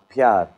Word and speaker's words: प्यार: Pyar.